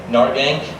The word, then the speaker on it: Nargang: Nargang. Nar rhymes with car, gang rhymes with rang.